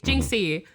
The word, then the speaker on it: Jinxie: spell that just j-u-s-t jinxie like minxy but with the j j-i-n-x-i-e it'll be there it'll